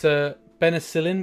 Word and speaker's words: Benicilin: It's Benicillin, which is spelled Benicilin. So I need to get a sticker or something, I think would be good.